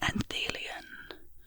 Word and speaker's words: anthelion: This word is pronounced anthelion, with the stress on the second syllable.